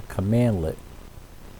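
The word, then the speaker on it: cmdlet: it was installed so inside powershell running a command 'let is the main thing it's spelled CMD le t but it's pronounced command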